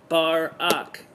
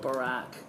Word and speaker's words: Barack: It's like Barak. Like ack, or going to the bar, so Barak. But it's not because I'm trying to be rude. It's just that, it's just the way I've always pronounced it. Although sometimes I do call it Barack.